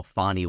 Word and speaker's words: Fani: funny name it is I think technically it's pronounced Bonnie oh fonnie Willis it's F ni and it's Georgia French